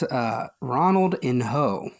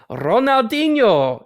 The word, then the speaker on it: Ronaldinho: That's Ronaldinho. No, that is Ronaldinho.